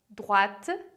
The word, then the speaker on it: droite: Agora você pode me perguntar, então, qual que é a diferença de pronúncia entre as palavras droite e droit, de tout droit, de reto. Então, à droite, na direita, tem uma nuance, um T lá que é quase assopradinho. Então, repara lá, droite, droite.